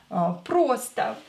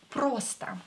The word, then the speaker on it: просто: Просто. Просто. Просто means simply. O is not stressed, so pronounce it as A. Просто.